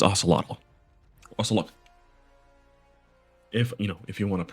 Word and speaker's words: Ocelotl: Well, it's Ocelotl. Ocelotl. If you want to pronounce it correctly, I don't know if I do and spelled it right, but did it right.